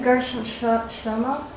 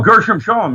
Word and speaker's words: Gershom Scholem: Gershom Shlomo. Gershom Shoma? Oh, Gershom Scholem, yeah.